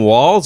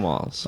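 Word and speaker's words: Walz: no T in there there's not a t now I've heard of a silent letter I haven't heard of a Le it's not in there that you pronounce right exactly yeah so I'll say Tim Walls that's yeah I think it's Tim Walls I think it's Tim Walls if it's not I like Waltz feels better but walls yeah okay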